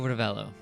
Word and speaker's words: Ravello: Oh, Ravello. Ravello. Revello. Little accent on the second.